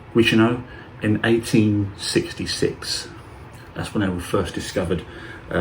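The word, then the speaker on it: Guichenot: First discovered by a French zoologist named Alphonse Guicheneau, that's how you pronounce his name, Guicheneau, in 1866.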